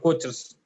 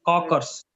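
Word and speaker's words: Kocher: what other Co in it's cockers okay not coaches cockers it's pronounced cockers okay what other coer you know anyone coer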